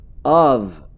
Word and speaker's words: of: Um F só, é como se tivesse um Vzinho, of.